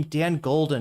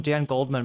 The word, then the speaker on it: Dan Goldman: Why did I always like say his name Dan Golden? I swear to God I don't think I've ever called him Dan Goldman before.